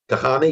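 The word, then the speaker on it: Kahane: late end quote as a crowd gathered around Kahani is that how you say his name gahani yes in the second floor lecture hall in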